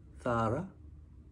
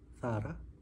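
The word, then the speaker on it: Zara: 회사 패션 기의 대기업인데 우리는 자라라고 하지만지 발음을 스페인어권에서 쓰 번데기 발람 비슷하게 합니다 그래서 사실은 우리가 현재 가서 들어보면 싸라 싸라 거의 이런 식으로 들립니다 참고하시고요 it 쪽은 우리가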